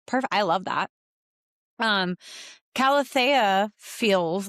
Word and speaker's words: Calathea: It's um he pronounces it Calathea and that's how my like my brain says it, so I didn't argue.